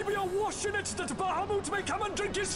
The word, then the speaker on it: Bahamut: Let sea and sky be awash in it, that Bahamut may come and drink his fill. That's how you pronounce Bahamut.